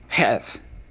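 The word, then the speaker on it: חית: The eighth letter in the Hebrew alphabet is called heth. Heth. Now uh this is a letter that has a a real hard h sound to it.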